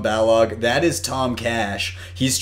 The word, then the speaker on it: Balog: see in the chat tom Balog is that how you say it yeah yeah Tom Balog that is Tom cash